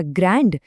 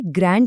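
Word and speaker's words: grand: इसी तरह ग्रैंड इसे ग्रैंड नहीं बल्कि ग्रॉ बोलते हैं। डीड चुप हो जाता है।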